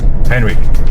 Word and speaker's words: Henry: Henry, Henry.